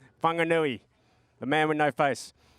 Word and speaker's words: Whanganui: Whanganui. Thank you. Who said that? Hand up. Thank you, brother. Jeez, he's covered up too. Look at the headdresses now. I told you, it's Whanganui, the man with no face.